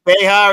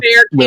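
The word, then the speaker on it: Bexar: one oh is it bear county is it pronounced like bear with the X silent is that what it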